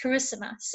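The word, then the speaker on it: Kiritimati: say hello in kiribati it's maori um it's pronounced carissimas it's in the middle of the pacific and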